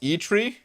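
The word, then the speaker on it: Eitri: congrats uh and thank you dude oh it's pronounced e tree ichiri made thor's hammer in norse mythos and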